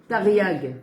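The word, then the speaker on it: תריג: comment on dit les 613000 votes on dit tariag. Comment ça s'écrit ?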